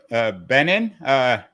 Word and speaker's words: Benen: We're speaking with Steve Benen, rhymes with Lenin, not John Lennon, but Vladimir Ilyich, although he's anything but Leninist in his approach to politics.